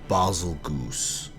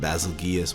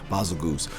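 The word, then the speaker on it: Bazelgeuse: Oh yeah, baby, coming in at number 8, we've got Seregios' long-lost explosive cousin, Basilgoose. I hate that. I used to call it Basilgeus, whatever. Basilgoose.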